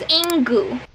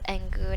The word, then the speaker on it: Engoo: be talking about is ingu i'm sorry that should be pronounced as angu not ingu i don't know why